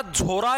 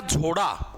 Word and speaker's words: झोड़ा: भाई देखो, ये प्रोनाउंसिएशन इसकी अलग अलग है। कई जगह इसको झोरा बोल देते हैं, कई बार एग्जामिनर इसको झोड़ा बोल देता है भाई। वो आप इसको कुछ भी बोल सकते हो भाई, ठीक है।